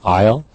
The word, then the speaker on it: aisle: Our vocabulary here in this unit, aisle, remember that, A-I-S-L-E, strange spelling, it's a French spelling, silent S, aisle.